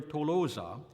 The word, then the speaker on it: Tolosa: to be pronounced ooh so the name of the city earlier tolosa was like modern French to lose except for the final vowel it seems likely that